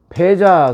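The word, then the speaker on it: 覇: 하여간 거의 습관이 되어가지고 패자 그러면 바로 이 백자, 이 패자, 이거 패라고 읽었어요. 발음이. 백이라는 발음도 있고 패라는 발음도 있는데 이 발음이 같지요. 패.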